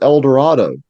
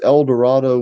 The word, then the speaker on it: El Dorado: That's why I think with El Dorado, great poem, but Mm-hmm. he rhymes El Dorado with shadow. Mm-hmm. Yeah. So he would have been saying El Dorado.